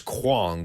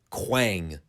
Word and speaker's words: Quang: I could have sworn it was Kwong, but no, it is apparently Quang.